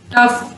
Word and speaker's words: tough: Sometimes GH is pronounced like an F। अक्सर औकात GH जो है वो मिलके F साउंड भी बना देते हैं, जैसे laugh, tough, rough।